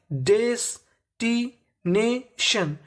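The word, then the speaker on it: destination: है टी आईयू एन अगर आपको इंग्लिश में कहीं पर टी आईयू एन लिखा मिले तो इसे पढ़ना होता है हमें सन क्या पढ़ना होता है सन तो मीनिंग बन गई डेस्टी नेशन डेस्टिनेशन डेस्टिनेशन का मतलब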